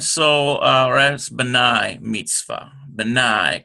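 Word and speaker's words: בני: we have today Mitzvah B'nai Mitzvah okay and so all rights B'nai Mitzvah B'nai cuz it's a diphthong notice the sir a Yoda that is a diphthong but I meats alright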